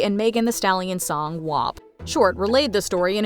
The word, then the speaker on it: WAP: Gomez also had to teach Short that it's pronounced WAP, not W-A-P.